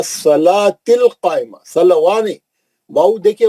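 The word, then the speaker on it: الصلاة: मुकामदा माशा्लाह इसमें बहुत सा गलतियां है ना सलवािल नहीं पढ़ना वो वाऊ साइलेंट है व सलातिल कायमा सलवा नहीं वाऊ देखिए वाऊ पे कुछ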